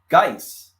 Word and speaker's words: Geis: Geis, right? Yeah, they said the E is silent.